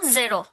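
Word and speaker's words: ゼロ: 10 পর্যন্ত, হ্যাঁ, শূন্য বাদ দিয়ে দিই, শূন্যকে জিরো, তো এটাকে জেরো বলে। হুম। জিরোকে জাস্ট জেরো। হ্যাঁ, কারণ জি, নর্মালি জি উচ্চারণের কোনো ওরকম হিরাগানা কাতাকানা পারে না, জে, সে, জে, জেরো, হ্যাঁ, ওকে।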